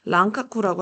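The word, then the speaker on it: 蘭学: 합니다 저 난학이 발전해요 그 일본 발음으로 랑카쿠라고 하거든요 랑카쿠라고 하는 나나계 발달해서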